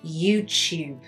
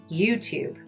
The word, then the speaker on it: YouTube: pronunciation for this platform an English person will say YouTube with the y YouTube is why we say chube but Americans will say YouTube.